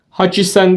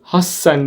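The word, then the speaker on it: 八千: istisna vardı 8.000 de haisen demiyoruz hassen diyoruz burada yine T hecesi var görüyorsunuz küçük olduğu için küçük olarak geldiğinde sağ tarafındaki daha vurgulu söylememize neden oluyordu arapçadaki şeddeli harf gibi hassen olarak telaffuz ediyoruz Ken ve 10.000'e geldik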